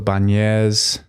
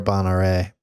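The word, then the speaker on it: Bagnères: You got stage 14, piled to Super Bagnez. Is that how you say it? I think it's Super Bonare. Bonare. That's going to be a good one.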